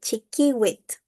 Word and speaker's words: chiquiwit: However, in Nahuizalco, all of them sound like a hard K. So it would be chiquiwit.